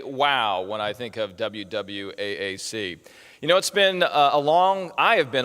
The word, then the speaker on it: WWAAC: I'm not mispronouncing them, WWAAC. I call them WWAAC because they wake the AAPI community.